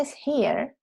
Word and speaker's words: hear: Entonces, si no me pronuncias bien la vocal ahí, me puedo confundir entre presente y pasado.